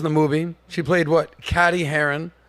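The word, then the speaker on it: Cady: movie she played what caddy Haron Katie Katie it's pronounced like Katie thank you this is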